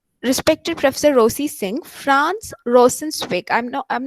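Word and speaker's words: Rosenzweig: jonas raja um respected professor rosie singh franz rosensweig i'm no i'm not sure if i'm pronouncing it correct franco en said w-e-i-g franz rosen swig uh was a jewish jewish existential thinker from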